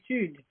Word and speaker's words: étude: I say it like in the French, because in French it would be étude. Étude, In Russian we also say étude.